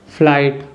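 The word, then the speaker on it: flight: एक और वर्ड है फ्लाइट फ्लाइट का मतलब है विमान यात्रा फ्लैट में देखिए जी और एच दोनों साइलेंट है यानी जी और ए दोनों साथ मिलकर कोई आवाज नहीं बना रहे हैं एक और एग्जांपल देखते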